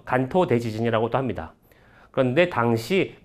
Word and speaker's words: 関東: 일본 동부 지역을 한자로는 관동(関東), 일본어 발음으로는 간토(Kanto)라고 해서 간토 대지진 이라고도 합니다.